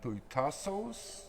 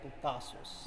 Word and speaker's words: Putasos: So tell me a little bit about, I don't even want it, Putasos? Did I say it right? Putasos.